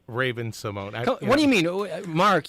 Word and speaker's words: Raven-Symoné: Well, it is because I do tend to mispronounce words every now and then, and I did say Raven-Symoné instead of Raven-Symoné.